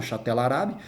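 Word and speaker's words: Chatt al-Arab: uma faixa territorial chamada chatel el arab a gente pronuncia emendado chatel arabe e mas aí a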